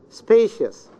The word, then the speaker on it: spacious: Spacious. Spacious. The first syllable.